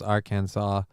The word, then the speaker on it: Arkansas: ] is Kansas pronounced canas but Arkansas is pronounced Arkansas makes zero sense I don't know those Federal